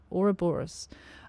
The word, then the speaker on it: Ouroboros: Now I had to look at a few interviews online to make sure I was pronouncing that right. Ouroboros.